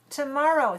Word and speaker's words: tomorrow: Tomorrow, 3 syllables. Where is the stress? Tomorrow. Second one.